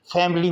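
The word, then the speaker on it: family: लिए मोटापकता है फैमिली फैमिली में आई साइलेंट है फैमिली आप बोलेंगे फैमिली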